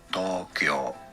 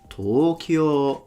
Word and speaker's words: Tokyo: Now, if you want to hear how it is said in Japanese, it is normally pronounced there in Japan as Tokyo, Tokyo, two rather long O's.